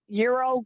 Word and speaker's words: gyro: Well, just like a gyro or a euro. Would you consider that a sandwich? Wait, you just call it a gyro? Euro.